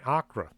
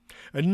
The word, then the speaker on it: Accra: senior high school in akra i believe that's how it's pronounced accra nothing out of the